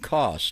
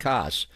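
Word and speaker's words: Koss: And that is the way to pronounce his name. It's Christian CS, not CS.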